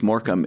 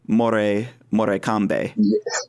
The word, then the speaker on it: Morecambe: language spelling and so before I heard it was moram in my in my head I thought it was like uh Mor morbe and that's that's what